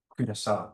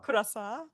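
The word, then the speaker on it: Curaçao: in the Caribbean Aruba Chuchara I hope my pronounce Kurasa Kurasa and St.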